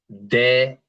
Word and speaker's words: de: And if the E is always making an E sound, then it's de español, right? De. De español.